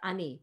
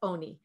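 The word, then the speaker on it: עני: he says it's true it's written as ani but it's pronounced as oni so you can't learn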